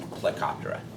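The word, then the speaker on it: Plecoptera: grip and these are Stone flies which is pronounced helicoptera yeah um tell me these things are like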